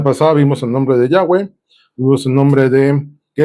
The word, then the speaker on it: Yahweh: Todas las veces que tú veas en la Biblia Jehová, estamos hablando de este nombre, el de las cuatro consonantes que se pronuncia Yahweh.